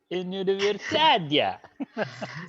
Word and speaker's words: universidad: Soy profesora, trabajo en la universidad. Here, universidad. One of the main things here you got to be careful, anybody. It's not pronounced as you. Universidad.